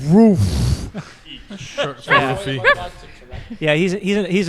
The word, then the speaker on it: Ruff: His name is David Roof, but it's spelled R-U-F-F. So it looks like rough. It's David Roof.